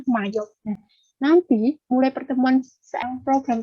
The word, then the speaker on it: MYOB: Memang mesinnya seperti itu, tapi bacanya Mayo.